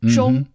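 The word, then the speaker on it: 中: So, zhi, ong, zhong. Zhi, ong, zhong.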